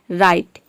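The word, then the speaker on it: write: राइट में आप देख रहे हैं कि डब्ल्यू को हम प्रोनाउंस नहीं करते हैं, RITE, केवल इसी को हम प्रोनाउंस करते हैं राइट।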